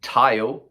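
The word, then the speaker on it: Thayil: Kim Tile. I think it's that because he said before it rhymes with smile, so I hope I've got that right.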